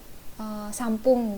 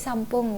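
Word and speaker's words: 三分: ngafalin gitu jadi misalnya sampung gitu apa 33 menit gitu itu sampung gitu Hai bukan sampun sampun eh bukan sampun tapi sampung gitu tidak tiga menit jadi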